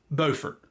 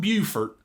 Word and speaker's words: Beaufort: And before anybody corrects me in the comments, around here, it's pronounced Beaufort, not Beaufort like South Carolina.